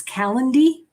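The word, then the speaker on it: Calendly: called I gotta say it right guys it's calendy so it's c-a-l-e-n-d-l-y c-a-l-e-n-d-l-y it's free this is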